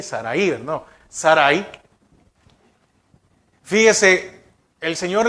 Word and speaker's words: Sarai: Sarai sería, porque no lleva acento en la I, Sarai, ¿no?